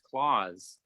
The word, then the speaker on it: claws: its big strong claws that word's pronounced Clause as in Santa Claus it sounds just like